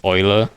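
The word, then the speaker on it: Eula: Didn't we also agree that like Ula is is Oiler because the EU in in German is pronounced Oi. All right, we're going to call her Oila now.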